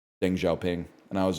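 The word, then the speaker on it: Deng Xiaoping: And I was like, I pronounced Deng Xiaopang's name wrong.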